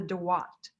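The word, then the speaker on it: Duat: on your way to the afterlife, called the Dawat, which is spelled either D-U-A-T or D-W-A-T.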